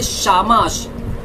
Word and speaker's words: Shamash: इसे एक और कहता है, इसे कहते हैं शामाश।